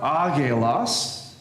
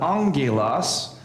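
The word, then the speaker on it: ἄγγελος: Um if you have two of them together the first gamma becomes a n sound. So for example common word is angulos. You have alpha gamma gamma epsilon lambda omeron sigma and yet we would pronounce it not aos but angelos with the n just a one of those rules.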